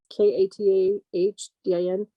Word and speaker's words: Katahdin: Katahdin. Katahdin, Maine. How do you spell it?